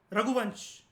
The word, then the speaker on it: रघुवंश: आप इसको रघुवंशा मत कहना, ये रघुवंश है.